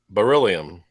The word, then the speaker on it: beryllium: better yeah ola christian put ba really um beryllium i was saying it wrong beryllium all right